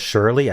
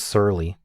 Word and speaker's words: surly: I see the issue I've been pronouncing this as Shirley I think it's Surly you're feeling Surly like a like a